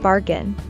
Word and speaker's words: bargain: We stress the first syllable in bargain.